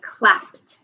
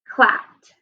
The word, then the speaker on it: clapped: one do you hear and clap is going to be like hugged where we're going to repeat this letter clapped i here p r p flat clapped i hear clapped i hear the t sound so go ahead and